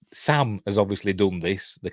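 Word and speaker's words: Samhain: think it's from you know sa the word sa spelled s m h a i n is it but it's pronounced sa which is that Celtic the Celtic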